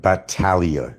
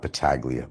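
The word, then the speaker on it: Battaglia: Like a bat, like hit your head somewhere in the head with a bat. Talia and a G is silent.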